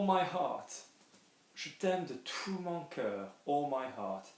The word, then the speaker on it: tout: There's no pronunciation of that T because there is not a vowel after it. There's no E after it. There's nothing making you pronounce it, okay? If you had in the form of the sentence a vowel coming after it in the next word, then that changes things entirely.